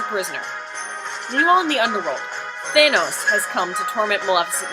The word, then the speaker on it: Thanos: move to our next oh I've been pronouncing that wrong it's Thanos isn't it nothing shall ever separate